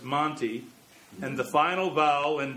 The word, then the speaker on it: Monte Vista: doesn't cover everything though monte vista is usually just monty and the final vowel